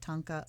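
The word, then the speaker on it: thangka: style of ancient asian tonka artwork and that is spelled t-h-a-n-g-k-a like thang with ka on the end tanka artwork these complex images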